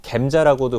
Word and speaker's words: 젬자: 첫 항암을 맞았던 거는 잼자라는 항암이랑 잼자라고 해서 잼시타빈이라고 해요 뭐 겜자라고도 부르기도 하고 다양한 발음은 있는데 그 잼자랑 씨스 플라틴이